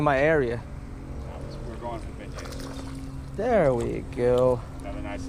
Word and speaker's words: beignets: How do you pronounce that thing? Beignets.